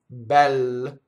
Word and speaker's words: bel: So in this word, bel, right? It's short for bello, right? Bel. The E is open, and now we make open E with the rounded edges E, and that's the IPA symbol.